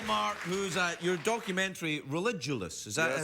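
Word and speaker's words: Religulous: here with Bill Mark who's a your documentary religous is that it's pronounced religous pronounced it correctly now is is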